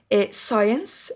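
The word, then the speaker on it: science: بننطقها في بعض الكلمات السي بعد الاس لا تنطق زي مثلا فتين نطقنا الاس والسي ماتنطقش سور برضو نطقنا الاس سنت عطره او رائحه ساينس علوم كريسنت يعني هلال دي سند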